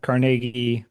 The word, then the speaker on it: Carnegie: Yeah, I would say that my I was raised in Pittsburgh as you said, Carnegie, Pennsylvania, the correct pronunciation of Carnegie.